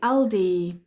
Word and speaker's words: Aldi: yeah yeah that's right Argos Argos how to pronounce Primark pry I Primark Primark Primark uh Aldi we say Aldi Aldi um dollum dollum Swedish we say uh